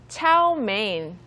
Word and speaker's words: chow mein: All right, so let's practice our pronunciation. Repeat after me. Plate. Plate. Plate. And the second one is chow mein.